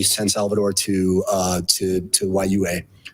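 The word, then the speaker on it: Juayúa: say, San Salvador to YUA, apologize if I'm not saying that right. I think it's Uea, actually. Uea, I believe it's pronounced. It's J-U-A something.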